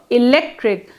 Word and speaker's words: electric: For example, in the word electric, when pronounced in isolation, the sound k, electric, comes in the final. But when the suffix ity is added, the resulting electricity is pronounced with s, electricity, and not with k.